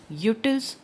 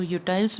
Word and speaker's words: utils: इसको यूटाइल्स भी बोलते हैं बट it should be pronunciate as यूटिल्स. So cardinal यूटिलिटी refers to a process of measuring utility in terms of numbers.